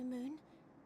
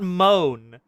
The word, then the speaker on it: Moon: never forget you, Moon. None of us will. Oh, that's how you pronounce it. It's not moan. It's moon. Moon Brenda.